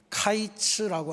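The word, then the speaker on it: קיץ: 여름 광주리 아 여름 과일로 번역된 히브리어는 카이츠라고 하는 단어입니다. 근데에 하나님께서 말씀하신이 끝이라고 하는 단어는 깨츠라고 발음을 합니다.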